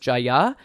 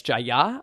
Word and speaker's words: Jaya: um jaya is actually pronounced with like the emphasis on the second uh syllable rather than like in the u.s we would say like jaya or jaya uh it's jaya i guess and uh